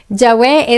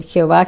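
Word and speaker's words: Yahweh: tal en aquella época, no sabemos esa pronunciación exacta, ¿no? Yahwe es la más cercana. Es la más cercana, pero hay personas que se empeñan en Jehová, Jehová, que es eh es algo que es una latinización posterior, o sea, es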